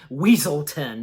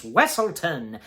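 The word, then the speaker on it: Weselton: of wlon they called weaselton but yeah Duke the Duke of wlon corrects them you know saying it's wesselton and the Duke of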